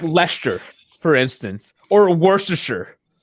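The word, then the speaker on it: Leicester: on things like like Lester for instance or Worcestershire when you look at it phonetically that is not how you say these words are we really getting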